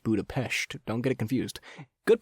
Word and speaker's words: Budapest: Also, it's pronounced Budapest.